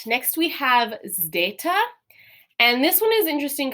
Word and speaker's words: zeta: And this one is interesting because it looks like our English Z, but it's pronounced a little bit differently. So in Greek, this is more of an SD sound, like in our word wisdom. So it's got that Z, but there's also that D sound after it.